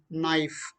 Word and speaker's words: knife: elongated knee simply okay so again knife k silent you have i spelling